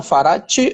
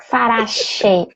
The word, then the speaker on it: Farache: O seu nome é Farati ou Farachi? Farache. O che é na pronúncia do italiano, seria o original, digamos assim, mas aqui no aportuguesado a gente fala che, farache. Farachi.